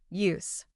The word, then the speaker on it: use: When you say, this book is called English Vocabulary in Use, it sounds like use. But when you say, you must know how to use words, it sounds like use. The pronunciation changes to reflect whether it is a noun or a verb.